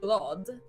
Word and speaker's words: glad: So now you know that if you say glad in Swedish, which pronounce glad, Glad.